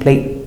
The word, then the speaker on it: plate: and also remember when you finish with a tea you don't have to say plate you can do a stop consonant plate now when we have